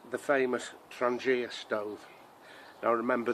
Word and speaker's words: Trangia: It's the famous Trangia stove. Now remember, the G is silent, it's Trangia stove.